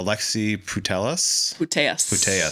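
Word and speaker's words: Alexia Putellas: Uh Alexi Putelus.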